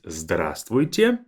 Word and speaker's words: здравствуйте: Two more that will be more of a formal way of greeting someone is здравствуйте. Здравствуйте. Notice that this V is silent. We say здравствуйте.